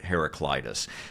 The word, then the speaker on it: Heraclitus: I was pronouncing it for years as herac Cletus and what I did I did is I used I did a Google Search and pulled up some YouTube videos of different ways of the pronunciation hearing different leaders let's say and anyway the majority of them who are you know well schooled let's say in this area we're pronouncing it heraclitis so the the quote